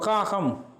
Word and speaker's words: காகம்: அப்படி இந்த இவற்றை ஞாபகப்படுத்தி தெரியாவிட்டால் ஒரு பரீட்சைக்கு வினா வந்தால் நீங்கள் உச்சரித்து பார்த்து, இப்போ காகம் என்றால் முதலாவது காவன்னா கே சவுண்டில் துவங்குகிறது, ஹம் என்றுகிறது கான் H சவுண்டில் உச்சரிக்கிறது, ரெண்டாவது கான்.